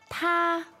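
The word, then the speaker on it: 他: Ta. Ta. So that means? Ta. They sound similar. They sound identical, but they are pronounced third person, male, female, and an object.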